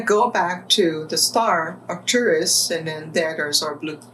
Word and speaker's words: Arcturus: the opportunity to go back home to the Arcturus, is that the correct pronunciation? Star system. The star Arcturus.